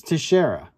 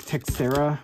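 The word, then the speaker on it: Teixeira: did the guys say t I can't even pronounce it tashera it's tashera the guy that I think was a breaker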